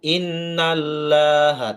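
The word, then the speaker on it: إن الله: Cara membacanya, innallaha, nunnya lama, n, kemudian lo tebal, bukan laha, loha. Jangan innallaha, tapi innallaha la yuhibbu, hi tipis,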